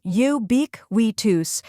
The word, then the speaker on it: ubiquitous: Let's break it down. First, we have U, which sounds like the beginning of you. Next is B-I-K, which is pronounced like the word bic, with a short I sound, similar to quick. Then we have Y, which sounds like Y in which. Finally, tus sounds like tus in focus.